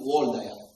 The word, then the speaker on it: Waldeyer: Henrik von Waldeyer is a German. Okay? That's why the W is pronounced as V. But in American, if you like, they still call him Waldeyer. So Waldeyer, this person described 4 different tonsils in your body.